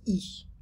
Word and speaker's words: y: Bonsoir Michel, il est exactement 8h37 du soir et voici le résumé de ton cours d'aujourd'hui, le lundi 8 juin. Le pronom Y, en fait on prononce I.